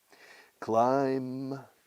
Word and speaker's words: climb: Climb, con B muda, se escribe climb.